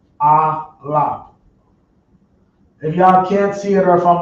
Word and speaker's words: Aleph: This letter right here is known as they call it the Aleph, but properly pronounced it be Aleph.